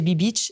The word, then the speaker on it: Be Beach: Et en même temps, la prononciation est assez ambiguë et c'est assez drôle. Les gens savent pas comment le dire et c'est très drôle. Et c'est Be-Beach, c'est Be-Beach.